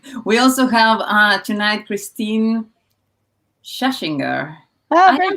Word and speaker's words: Schachinger: You actually pronounce it, as the Germans tell me, I pronounce my name wrong. So in American, it's Schachinger. But you were closer to the correct pronunciation if you're in Europe. It gets to the Deutsche Schule, Córdoba, 3 Jahre.